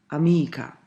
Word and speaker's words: amica: "Amica", second to the last. But, there are words that pronounced differently, for example: "simpatico"--third from the last.